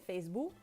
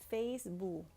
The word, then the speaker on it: Facebook: K, por decir en Facebook. So in English, you really want to make sure that you pronounce, you enunciate the k at the end.